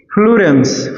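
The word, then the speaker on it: fullerene: फ्लुरेंस फ्लुरेंस ही बोलते हैं इसको।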